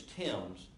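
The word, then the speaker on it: Thames: And I believe I incorrectly pronounced the last name, and her name is Timms, which is one of the girls that was killed, but also the Bennett girl.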